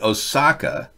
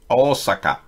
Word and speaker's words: Osaka: Japanese don't accent any syllables. Good to know. Osaka. No accent on syllables in Japanese.